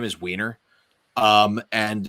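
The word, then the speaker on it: Wiener: doxxed my la my actual last name is weiner um and it's spelled w-i-e-n-e-r so weiner good german name it means from vienna it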